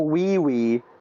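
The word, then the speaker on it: Ouioui: And they also have wee wee. Yeah, that spelled like O U I O UI.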